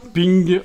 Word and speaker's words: PNG: Rainbow swos dotping puisque PNG ça se prononce ping en anglais voilà donc dans dimension